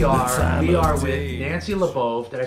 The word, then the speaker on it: Labov: We are with Nancy Labov. Did I say that right? You said it right. Nancy Labov.